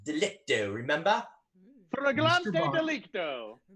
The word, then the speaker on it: flagrante: Photographs of you and Yvette in flagrant delicto, remember? Flagrante Mr.